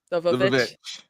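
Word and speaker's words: The VVitch: We did our longest after party ever for the witch, but can you please pronounce it correctly, Forrest? The Vavitch.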